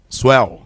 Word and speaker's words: swell: mpu vapor ventos fortes é isso mesmo é assim que se pronuncia suel isso mesmo é originado